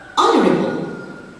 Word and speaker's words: honorable: Honorable. So the silent letter here is the mute H in the initial position.